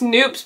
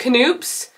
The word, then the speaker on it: Knoops: We went to, I think it's pronounced Noops, but we pronounce it Knoops.